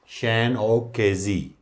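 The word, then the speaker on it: Seán O'Casey: ये भी सही है, बट क्योंकि ये आयरलैंड से इनका ताल्लुक है तो आयरिश प्रोनाउंसिएशन इसकी होगी, दैट इज़ शैन ओ केजी।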